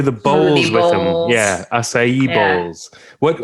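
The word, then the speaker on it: açaí: uh and i only recently learned how to pronounce this word because i work with some brazilian brazilians now acai which is a berry that grows in in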